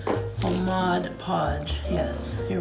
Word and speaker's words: Mod Podge: i thought it was modge podge too but apparently it reads mod podge so the g is silent oh mod podge yes you're right you're